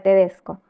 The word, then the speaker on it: tedesco: ti el otro ejemplo la palabra tedesco te desco sucede lo mismo tiene el acento en Des si que es la penúltima sílaba Bueno siempre que se